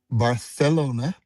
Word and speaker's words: Barcelona: I started in let me say it right, Barcelona, because in that part of Spain, they use a lisp.